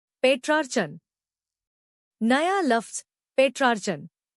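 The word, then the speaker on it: Petrarchan: पेट्रार्चन नया लफ्ज पेट्रार्चन इसको तोड़ते हैं। पेट्रार्चन जोर ट्रा पर है।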